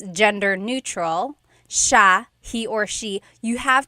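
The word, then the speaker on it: siya: It's sha sha. The s i y combination makes the sh sound in tagalog. Some regions say sa but in the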